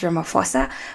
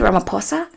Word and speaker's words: Ramaphosa: Now, I pronounced it as Ramaphosa, but when I was watching the videos about him just to prepare for this episode, people say Ramaphosa.